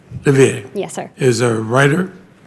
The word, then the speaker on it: Livier: Did I pronounce that correctly? Livier. Livier.